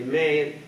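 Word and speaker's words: Mae: people do wonder about my name they say may and about nine out of 10 people ask me how do you spell that you know m-a-e-m-a-y-s and so forth so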